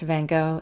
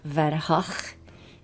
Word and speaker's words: Van Gogh: And by the way, it's not pronounced Van Gogh, it's Van Gogh. Something like that in the Netherlands.